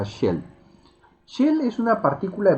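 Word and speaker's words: של: Pero dentro del texto que vamos a estudiar, vamos a darnos cuenta que existe una partícula que se pronuncia shel.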